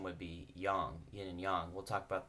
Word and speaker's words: yang: mispronounced says yang but a more accurate translate pronunciation would be young and young we'll talk about that symbol in